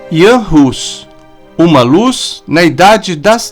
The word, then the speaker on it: Jan Hus: Antes de tudo, devemos observar a pronúncia correta de seu nome, uma vez que, em alguns idiomas, a letra J é pronunciada como a letra I e a letra H como R. Desta forma, devemos chamá-lo Jan Hus.